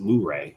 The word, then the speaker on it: Luray: from what i understand they actually pronounce it luray there so um that's we